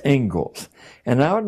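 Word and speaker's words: Inglis: is the ingalls lecture looks like english but it's pronounced ingalls and i would like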